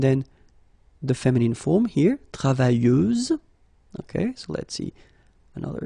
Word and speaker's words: travailleuse: You don't pronounce the final S, so you get travailleuse.